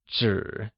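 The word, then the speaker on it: 纸: In Mandarin, one piece of paper translates as yi zhang zhi, where zhi is spoken with a falling, rising tone, which means paper.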